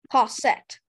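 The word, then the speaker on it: cossette: Cassette.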